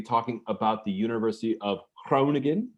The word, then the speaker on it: Groningen: the university of cronigan my pronunciation would probably be condemned by somebody from the netherlands but i do my best uh at geneseo you're often gonna hear it referred to as the university of groningen uh though no one in the netherlands would ever pronounce it that way um joining me is